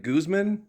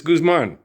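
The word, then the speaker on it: Guzmán: I was like, gooseman. You speak Spanish for crying out loud there. I don't speak Spanish. I butcher Spanish. But you just butchered it. Why did you do that? Amarilla by morning. What's wrong with you, ma'am? I'm just kidding around. I was laughing at that going. It's Guzman. Oh, come on.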